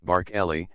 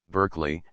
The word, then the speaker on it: Berkeley: their mug houses of the great Lords Darby bark Elli and bardy in Paul mul and Mayfair these personages are spoken of in exactly the same manner at the present day whilst in the city and amongst the middle classes we only hear of Derby Berkeley and see comma the correct pronunciations if the spelling is worth a it must